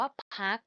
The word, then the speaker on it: พรรค: 3 ค่ะ พรรค พวก สะกด ว่า พ่อ รอ หัน คอ อ่าน ว่า คัก ค่ะ พ่อ อ้วก อ่อ